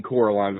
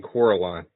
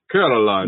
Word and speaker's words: Coraline: Russian uh acrobat Mouse guy and he kep Caroline who call who Carol voiced by um what's